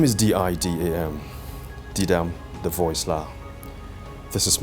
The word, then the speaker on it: Didam: teach i'm just saying my name is d-i-d-a-m d-dam the voice la this is my story and